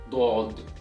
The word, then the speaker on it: ض: So this letter is pronounced as Daad, Daad, Daad, Daad, Daad.